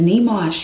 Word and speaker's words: Nyamuoch: and and I don't want people trying to pronounce it because they don't know how to so don't try my name is nimash yes nimashtani that's me if that's all